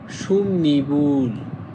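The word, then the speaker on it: 솜이불: আবার একইভাবে আপনার মিউমের পরে যদি ই থাকে তখন ইয়ংটা হবে ন এর মত উচ্চারণ তখন এটা হবে সুমনিবুল সুমনিবুল মানে সুতির কম্বল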